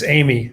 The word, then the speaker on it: Eighmy: President, is Eighmy? I just realized that I didn't actually double check your pronunciation. It's Eimy, yeah.